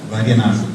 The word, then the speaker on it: Vaidhyanathan: I'm very sensitive to the pronunciation of last name. Vaidyanathan.